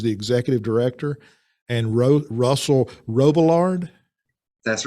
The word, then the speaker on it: Robillard: executive director, and Russell Robillard. That's right. What's the French pronunciation? Robillard. Robillard. Okay, so that was pretty good.